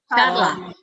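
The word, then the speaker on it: Ciarla: Charla. Oh, without A, without I. Charla. It's basically pronounced similarly to like the name Charlie in English. Oh. So in this case, it's Charla. It's the ch sound.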